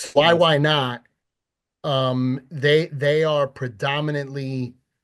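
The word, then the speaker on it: YYNOT: they're why why not it's spelled just like that y y n o t why why not um they they are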